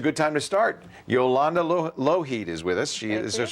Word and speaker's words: Lougheed: Yolanda Lougheed is with us.